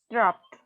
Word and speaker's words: dropped: Dropped. Drop. Drop. Repeat, please. Dropped. Drop. Drop. Okay, tienen que enfatizar bien el sonido al final, si no, no lo están haciendo bien.